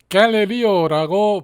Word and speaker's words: Galileo: 이탈리아의 천문학자 갈릴레오를 영어로는 갈릴리오라고 발음을 합니다.